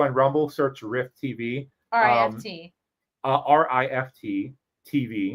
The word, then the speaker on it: Rift: RIFT. RIFT TV. Not riff like a comedy riff. Right. Yeah. No. So we're Rift. pronouncing the T's.